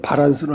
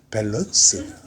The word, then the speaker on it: 밸런스: 바라 우리 이제 한말로 발란스는 하데 원 저 그 그 발음은 밸런스 밸런스 예 밸런스가 이게 맞는 거야 형님 고맙습니다 예